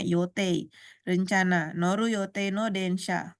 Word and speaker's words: 予定: 3番は山田さんが私が乗る予定。予定ini yote kanjinya bacanya yote.